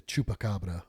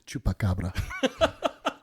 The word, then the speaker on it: Chupacabra: The Chupacabra. Because Rod has taught me to speak Spanish and corrects me if I say it wrong. Because I was like, the Chupacabra? And he's like, no, the Chupacabra.